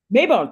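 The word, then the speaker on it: Maybonne: is I don't I don't know how to pronounce her name mayone mayone thank you I've never seen that name outside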